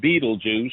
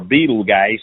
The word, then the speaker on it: Betelgeuse: Thunderbolt you might there's a star called Betelgeuse or beetle guys depending upon how you pronounce it it's not dead far